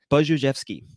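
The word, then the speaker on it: Budziszewski: Let me look up the pronunciation again. Buzhevsky.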